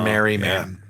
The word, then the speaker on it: Merryman: He hired what is believed to be the first clown named Mr. Merriman. Like Mary. He's Yeah. Mary. Yeah, it's spelled Merryman, Mr. Merriman.